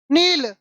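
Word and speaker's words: Nile: इसको अगर हमने पढ़ा माइल है ना माइल पढ़ा इसको तो इसको नाइल पढ़ना चाहिए लेकिन इसको नाइल नहीं पढ़ते यह एक नदी का नाम है जिसको क्या पढ़ते है नील तो अंग्रेजी में अपना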